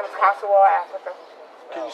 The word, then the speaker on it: Consuewella: My name is Kosuwal Africa. Can you spell it, please?